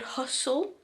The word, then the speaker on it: Hussle: There is an app called Hustle, but it's spelled Hussle, and in the UK